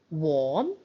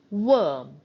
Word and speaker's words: worm: before o r so we do not say warm we say worm we say word therefore